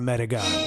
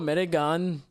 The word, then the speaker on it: Medigan: And then we have the very specific version that a lot of people are frowned for being this, and it's called a Medigan.